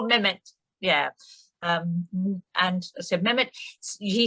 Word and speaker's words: Mehmet: It's the hero, Mehmet, and how would you pronounce it just right for me, Berna? His Mehmet. name? Mehmet. It's more Mehmet.